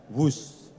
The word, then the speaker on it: Whoosh: operasi optimal sistem hebat sekali lagi w h o o s h tapi membacanya wus kereta cepat Jakarta Bandung